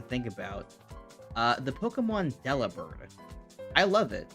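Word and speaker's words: Delibird: someone posed the question is it supposed to be delivered like delivered bird I have never heard anyone say it like that which is wild to me because that feels like it's obviously the correct answer Del bird like delivered not not Deli bird bir and I'm still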